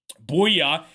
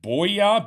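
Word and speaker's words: Bouyea: Buoya knocks it in for the Suns. I think that's how you pronounce it. Buoya. B O U Y A. Booya.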